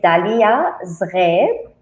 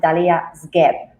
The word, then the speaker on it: Daliya Zgheib: Yes, it is Daliya Zgheib, but because we don't have the R in the English language, so you can pronounce it Daliya Zgheib.